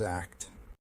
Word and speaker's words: ACT: and strengths based approach acceptance and commitment therapy pronounced as act we'll look at how